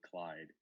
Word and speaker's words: c1yd3i: you look good no you can call me Clyde because I think c1y d3i means Clyde it's a funny story